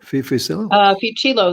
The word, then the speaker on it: Fucillo: So when someone goes to your website there, Carol, how you pronounce that? Fusilli? Fucillo. That's my maiden name.